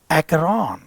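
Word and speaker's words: Acheron: तो एक एकॉन एक्रॉन इसका प्रोनाउंसिएशन है एकॉन एक्रॉन एक रिवर है जो डेंटी की डेंटी की डिवाइन कॉमेडी में उसका जिक्र किया गया है।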